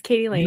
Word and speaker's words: Katie Lain: My next guest is I probably will not butcher your name at all, Katie Lane. Yeah, it's sounds as it's spelled. Yes, Katie Lane.